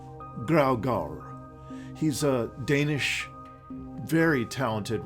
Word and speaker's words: Graugaard: And Graugaard. Graugaard. Yeah. Graugaard. Okay. Yeah. The D is silent.